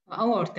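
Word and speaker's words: aorta: The largest artery in the body أورتا، يطلق علينا الأورتا، قلنا ونشع أورتا، بعض الناس تلفظوا إيورتا، اللفظين صحيح، اللي هو الأبهر.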